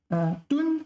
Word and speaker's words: 吨: 吨, first tone. Taiwan pronounced 吨. All right, I've always said fourth tone, so 吨.